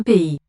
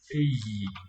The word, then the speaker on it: pays: Pays. Pays. Pays. 2 syllables.